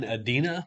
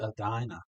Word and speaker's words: Edina: adena e-d-i-n-l okay evidently they like to say edina a dino okay weird i mean